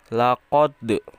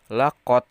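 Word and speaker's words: لقد: harus dibaca dibacanya dipantulkan jadi lakode ya bukan laqod tapi lakode khalaf sama halnya seperti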